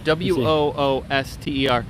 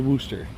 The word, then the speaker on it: Worcester: worcestor that's Worcester no I think it's pronounced Wooster and that's how it's spelled that's why that's you that is that is Worcester that is a Wooster which one is it it's no that could be woosh shirt too no that's not it that is not even close that is warchester no it's it's like Wooster that's how it's pronounced at least I believe